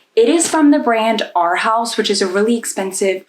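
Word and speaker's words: Arhaus: It is from the brand Our House, which is a really expensive furniture place. It's spelled A R H A U S.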